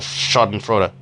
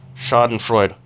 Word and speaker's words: Schadenfreude: give me such delightful Schadenfreude. Schadenfreude. I don't know how you. I prefer to pronounce it Schadenfreude because if you pronounce it Schadenfreude, you sound like a pretentious prick.